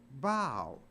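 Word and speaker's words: bough: u g h but it's not pronounced buff it's pronounced bow so even O A.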